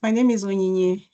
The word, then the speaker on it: Onyinye: my name is Onyinye. Oh, so I said it right. Just, yeah, not as fast, maybe. Yeah.